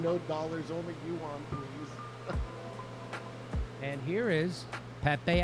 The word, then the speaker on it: yuan: Yuan, I hear.